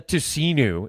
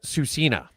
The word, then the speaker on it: Tsuut'ina: It's not the Tsuut'ina, it's the Tsuut'ina.